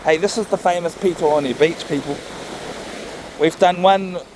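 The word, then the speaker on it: Petone: But just know I'm going to use the proper Māori spelling for Pito. So if you look at this place on the map, it's spelled P-E-T-O-N-E.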